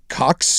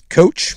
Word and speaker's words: Koch: Yeah, Charles Coach, maybe? Okay. Is it Cox or Coach? What is it? How do you spell it? Well, it's really tiny it's Coke.